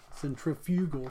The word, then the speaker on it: centrifugal: what's called centrifugal force centrifugal force I'll emphasize the second syllable so you know exactly what I'm saying here's another example an